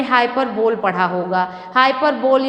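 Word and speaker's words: hyperbole: पर बोल पड़ा होगा हाइपर बोली हाई पर बलि कई लोग पढ़ते हैं तो उसमें किसी चीज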